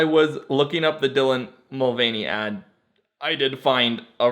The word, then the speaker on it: Mulvaney: Is it Dylan Mulvaney, not Mulaney? Have I been saying it wrong this whole time?